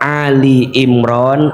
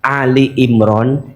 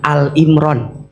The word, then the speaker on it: Ali Imran: Kalau maca Ali Imran jangan Al Imran. Bacanya harus Ali Imran. Karena yang dibahas di situ maknanya keluarga Imran. Kalau Al Imron hanya Imron sendirian. Tapi kalau Ali Imron maknanya keluarga Imron.